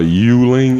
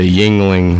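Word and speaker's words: Yuengling: me a broom Anna Yuling is that how you pronounce it a Yuling it's a Yingling o mo pasa me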